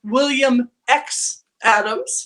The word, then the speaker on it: William X. Adams: Bill, you do write under the name of William X. Adams. Why is that? Well, the X is silent.